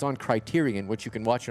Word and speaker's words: Criterion: Criterion. Tyrion. Criterion. C R I T E R I O N. Like Criteria but without the A at the end. O N at the end. Criteryion.